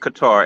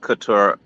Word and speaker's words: Qatar: it's pronounced right so it is pronounced Qatar and not Couture I mean what's it